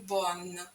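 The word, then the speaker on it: bonne: бо хороший Бон хороша Зверніть будь ласка увагу прикметнику чолові ому роді вимовляється з носовим звуком Бон а в жіночому роді з чистим звуком Бон у французькій мові дуже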